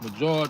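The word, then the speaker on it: Medjool: So it's major date. Let me Yeah. Me D. Oh me E D J O O L. So the D ain't silent. Actually the D is silent cuz it's Major.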